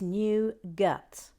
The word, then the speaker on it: nougat: nougat we are talking about in america it's new guts new guts jillian b oh i take back